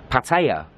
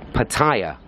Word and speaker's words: Pattaya: And pronunciation number 3, which is also very popular, is Pattaya. Pattaya, which could be spelled P-U, P, and then Taya, as in the things you stick on your car.